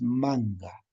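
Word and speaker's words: manka: Olla es manga. La escritura es manca, pero la pronunciación es manga.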